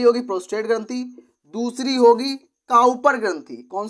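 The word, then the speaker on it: Cowper: दूसरी होगी काउपर ग्रंथि, कौन सी होगी, काउपर, कॉपर नहीं लिख देना, काउपर, काउपर होता है इसका राइट प्रोनाउंसिएशन, काउपर ग्रंथि या काउपर ग्लैंड।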